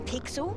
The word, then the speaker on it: Pixel: I'm Pixel. It's easy to remember because it rhymes with Pickle.